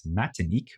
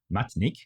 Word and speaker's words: Matinik: of martinque which is known as matinik or with one less syllable matinik in the version of French Creole spoken on the island inspired by the ideas